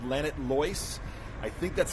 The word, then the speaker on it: Llanidloes: This is a town called Llanidloes. I think that's how it's pronounced in Welsh.